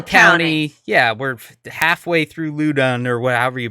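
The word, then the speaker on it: Loudoun: all right L County yeah we're halfway through luden or what however you pronounce it Loudon Lowden l oh Lowden okay yeah that makes sense uh you know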